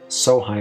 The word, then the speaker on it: Sohei: elderly current family leader, Sohei Sonozaki. It's funny to me that somebody who made their fortune and climbed the social ladder has a name that's pronounced so high.